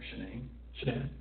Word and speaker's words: Shanann: And I don't want to pronounce her name wrong, Shanann.